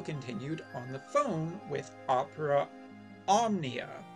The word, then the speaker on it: Opera Omnia: on the phone with opera omnia which yes that is how it's pronounced and the interesting thing